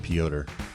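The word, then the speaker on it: Petr: calls him Peter Yan it looks like Peter but it's pronounced pyotr yeah I'm gonna go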